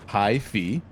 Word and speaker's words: hyphy: Hyphy, pronunciation hi-fi, function, adjective.